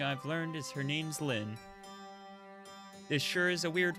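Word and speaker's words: Lynne: do you say that is that Lany is that correct I'm gonna have to like I have to Google it because I have no idea how to say this how how do you say this word Lynn it's just Lynn okay yeah no that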